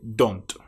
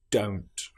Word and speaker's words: don't: For example, many people will say don't instead of don't. They use the short o sound don't. But this is incorrect. It needs to be o don't.